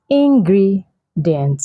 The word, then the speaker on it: ingredient: So I've heard a lot of people say it's ingredient. No, the stress is on the second syllable, which is ingredient.